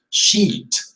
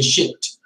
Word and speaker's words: sheet: paper but be careful the pronunciation again has to be long sheet because if you say shaped then it is poop right and that is